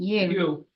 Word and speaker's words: yew: Pronunciation, you. It's pronounced yew, but it's spelled Y.